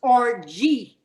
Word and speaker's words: orgy: what time does this orgy start at there won't be one and it's pronounced rg the g sound isn't hard no will to be